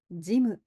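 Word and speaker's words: ジム: 지무 . 영어 에서 도 체육관 이라 고 부르잖아 요 . ' 짐 ' 을 ' 짐 ' 이라 고 발음 하는 것 과 똑같이 읽습니다 .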